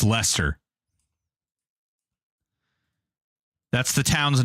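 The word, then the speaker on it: Leicester: It's like uh lie That's That's how it's spelled, but it's actually it's Lester.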